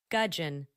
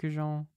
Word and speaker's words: gudgeon: Gudgeon. But it's middling. It's like, so it's spelled weird. It's not like goujon.